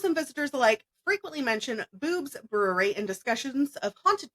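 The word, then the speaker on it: Bube's: group Miley Paranormal, offers investigative experiences into the Boob Brewery. The brewery often maintains a resident paranormal team and encourages guests to bring cameras while exploring. Some spirits especially enjoy skeptics. Locals and visitors alike frequently mention Boobs Brewery in discussions of haunted places all across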